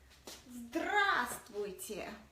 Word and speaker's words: Здравствуйте: I'm going to spell it out for you. Здравствуйте.